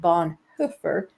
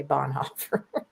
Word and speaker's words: Bonhoeffer: and believe it or not his name is pronounced Bon hoofer which nobody pronounces because we're all American and we say Bon Huer but uh yeah I think it came out